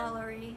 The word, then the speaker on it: Lalaurie: They talked about the, how was he pronouncing it again? Lalaurie.